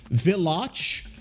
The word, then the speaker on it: Villach: it's pronounced V Vach villach V it's not Village it's v i l